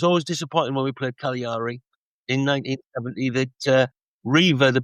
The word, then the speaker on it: Cagliari: The Mustangs were being represented by how do you pronounce that? Cagliari.